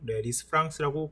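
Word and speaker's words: Lisfranc: 프랑스어이기 때문에 미국식 발음으로 리스프랑스라고 부를 수 있고 리스프랑크라고도 부릅니다.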